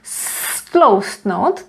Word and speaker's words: stloustnout: is pronounced as z, and stloustnout, this is pronounced as s. Stloustnout, because it was affected by the T, which is voiceless, so stloustnout and zhubnout.